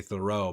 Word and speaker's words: Theroux: I'm always thinking when I'm watching Louis Theroux. Great stuff. Is it Theroux? Because I've always heard Americans say Thoreau, but I feel like I heard him say Theroux.